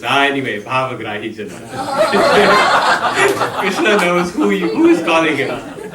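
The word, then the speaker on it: कृष्ण: So it's Krishna. Your tongue rolls from the K to the Sha over the R.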